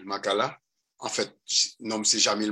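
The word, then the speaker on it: Maccala: Jamil écrit J-A-M-I-L, Makala, M-A-C-C-A-L-A. Je reprends. Je vais un petit peu trop vite. Jamil, ça s'écrit J-A-M-I-L, Makala, M-A-C-C-A-L-A.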